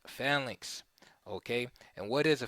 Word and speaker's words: phalanx: to explain what the Fink is some people pronounce it flanks but it's uh pronounced fallinks okay and what is a PHX the PHX